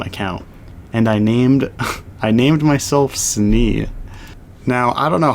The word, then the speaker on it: Snne: One, the first reason was because Snee, the way I spelt it was SNNE, which is not how you say Snee. It's like, that's like sneh.